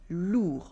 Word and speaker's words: lourd: Relou comes from lourd with a silent D. Lourd, lourd, lourd. Lourd means heavy, like ton sac est lourd, your bag is heavy. Ton sac est lourd. Remember the silent D.